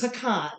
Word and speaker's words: pecan: So those of us who grew up near where these indigenous people lived who spoke this Algonquin language, we pronounce it like they did. Of course. Pecan.